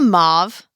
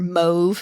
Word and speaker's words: mauve: brown taupe yes damn are you thinking a mauve or mve oh sure yeah that's what I was thinking of Mau is it mave I don't know I've heard of both ways mauve I've heard it both ways though and I don't know which one is correct Mocha Moose that is